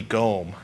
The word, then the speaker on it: GOM: just like streaming and it has a long o so that would be gome and it hurts when you pronounce it any other way gome I'm apolog I